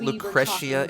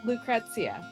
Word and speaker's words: Lucrecia: sorry lucrecia we um is it lucrecia am am I really pronouncing it that badly it's Lucretia jeez I just said lucrecia my entire life how much you guys